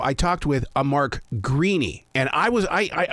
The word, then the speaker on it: Greaney: know I I think if you're in Ireland it's an Irish name you're gonna pronounce it greeny and I'm from Memphis